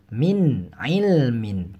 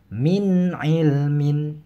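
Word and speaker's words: مِنْ عِلْمٍ: ain dalam dua kata makanya dibacanya jelas min ilmin tidak boleh minum air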